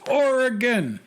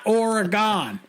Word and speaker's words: Oregon: is worse than fingernails on a chalkboard it's pronounced Oregon not Oregon or Aragon or air gun I hope that makes sense and thanks for